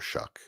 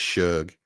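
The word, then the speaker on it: Shough: Shuck most. Oh, yeah. Yeah. Yeah. Yeah. Yeah. I'm with you on Well, am I? And and I'm sorry I'm pronouncing his name wrong. It's Suge. Suge.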